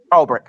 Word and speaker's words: Ulbrich: Ulbrich.